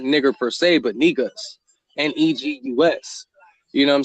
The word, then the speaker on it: Negus: It was Negus is how you pronounce it.